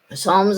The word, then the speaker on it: Psalms: I lose my voice Psalms is pronounced with a silent p and um Psalms is